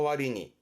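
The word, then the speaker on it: 割に: 발음은 와린이라는 건 뭐뭐뭐에 비해서입니다. 비율을 의미하기 때문에 그거에 비해서 와린이 뭐 성적에 비해서 세이새끼노 와리니, 아니면 쉽게 뭐 그것에 비해서 소노 와리니라든가, 와리니는 뭐뭐뭐에 비해서를 주로 쓰게 되고요.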